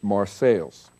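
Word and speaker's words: Marseilles: 1848 Martin Delany visited Mar sales not Francis Port City but its namesake a village in the cornfields of Northwest Ohio then as now local people pronounced it marceles drinking my water I'm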